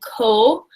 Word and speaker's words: Kohh: at, is actually a rapper named Ko. I think that's how you say it. His name is spelled Kohh.